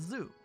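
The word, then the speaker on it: ズ: above yes this is zoo or zoo pronounce it as zoo like in the word zoo write su as normal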